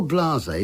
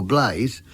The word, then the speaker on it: Blasé: Anyway, Your Blase, which used to be mispronounced by some dense singers as Your Blaze, who used to then complain there weren't enough syllables to fit the tune, is an excellent piece,